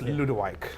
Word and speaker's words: Ludewyke: you can't pronounce it either. It's Ludewyke.